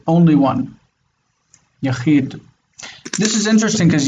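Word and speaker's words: יָחִיד: Unaccented syllable, and it is open. So the rule is? Mm-hmm. Unaccented open would be a long vowel. Yes. Mm-hmm. So it would be yahid.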